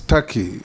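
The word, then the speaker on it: Türkiye: the comments made by it is not called tur it's tury it's only written Tak but it's pronounced Taki thank you I that is the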